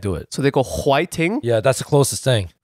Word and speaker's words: 화이팅: it again fighting yeah it's when Korean people can't pronounce fighting because they have a hard time pronouncing certain letters in English so it's like they can't do it so they go Hua Ting yeah that's the closest